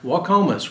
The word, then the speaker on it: Waukomis: Waukomis.